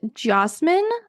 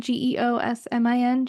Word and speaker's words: Geosmin: One is called Geosmin, I think is how you say it. Geosmin, Geosmin.